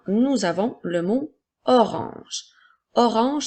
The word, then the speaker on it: orange: Orange s'écrit O, R, A, N qui font le son en, G, E. La lettre G fait le son J. Alors, nous avons O, R, ange qui fait orange.